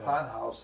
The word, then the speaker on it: Ponhaus: It was called ponhorse. They just kind of slurred it. I mean, I'm sure my family didn't even know the correct pronunciation. Sure. But it was ponhorse. Yeah. Ponhaus in German.